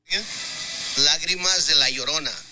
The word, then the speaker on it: Lágrimas de la Llorona: So this is how Tears of Llorona is actually pronounced. Lágrimas de la Llorona.